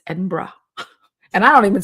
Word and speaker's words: Edinburgh: and Us afternoon tea at the Balmoral in Edinburgh and some other things.